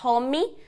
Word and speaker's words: home: então Cuidado não vá home home care home e termina com m final assim ó fechando a boca encostando os lábios Roma home e a